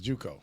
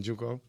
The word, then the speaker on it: Njoku: just as much as I like ours, is Juco. Is that how you say his name? Njoku? With the Browns? Njoku.